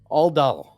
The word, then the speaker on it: Aldal: Aldal. Aldal. ALDAL? It's in the It's reoccurring NPCs. I will. Oh, it's not. AUHL hyphen DAUL.